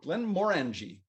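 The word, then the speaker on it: Glenmorangie: crazy today uh glenn glenn morangie that's how they say it plan morenji one like orange orangey like len blen more orangey it's more in g than just origin now more and g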